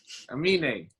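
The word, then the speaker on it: Aminé: What he says, my name is Amine.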